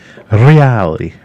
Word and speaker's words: Reali: No one can roll the R like a Scotsman, definitely. Yes. I always remember we had an Italian guy that lived next to us with another place I lived in Sheffield, and his name is Stefano Reali. And he put me on the phone to his mum because he was like, Mum, I found someone that can pronounce our second name properly.